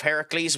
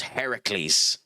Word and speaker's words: Heracles: Disney have changed the uh the pronunciation of that uh name because in I think in Greek mythology Hercules is Heracles and in Oh, which there's another mythology that he's in.